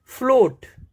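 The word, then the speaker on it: float: फ्लोट, इसमें ए का pronunciation नहीं हो रहा है, ए का साउंड नहीं आ रहा है।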